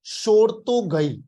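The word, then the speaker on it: Shortugai: इस साइट का नाम है भाई लोग शोरतोगई।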